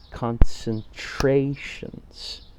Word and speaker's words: concentrations: After you've identified the color vowel, then identify the number of syllables using the clapping technique. So in this case, that would be concentrations. So 4 syllables, and the third syllable, the color vowel syllable, is the stress syllable.